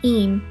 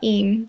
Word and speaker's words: Eyam: if we could go to a village called aim or at least that's how I pronounce it I'd been once before when I